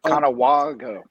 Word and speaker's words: Conewago: Conewago. Yeah, it's a soft A. Yeah. Rhymes with Chicago.